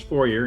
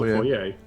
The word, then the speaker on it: foyer: say that word yeah it's four year and there's also four yeah okay i feel like